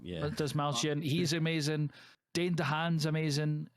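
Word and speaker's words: Dastmalchian: David Dasmalkian. Yeah. Dasmalkian.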